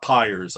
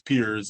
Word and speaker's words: Piers: It could be that pronunciation, but it's definitely not Pyers. It's Piers is like, I guess, the common way of saying it.